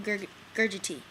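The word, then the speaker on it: Gugerty: 2 fighters making their debut, Dale Hart versus Shannon Gurgity. That's how you pronounce it.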